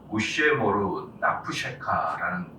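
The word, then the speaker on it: וּשְׁמֹר נַפְשְׁךָ: 이게 히브리 말로 우쉐모르 나푸셰카라는 발음인데요.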